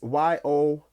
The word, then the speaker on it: Yoruba: or copied from the yoruba if that's the proper terminology i think it's aruba or yadubo however you say it i'm listen i'm not you got me google it you feel me anyways y-o-r-u-b-a the yoruba that's how